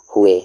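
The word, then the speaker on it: ہوئے: जाना एंड हो जाना हुए वा इसमें साइलेंट होता है हुए में हमेशा हुए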